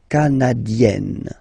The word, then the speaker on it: canadienne: Le Canada, canadien, yin, here, canadien, canadienne, yen. Remember, here you've got double N, so you've got to open the so it will become canadienne.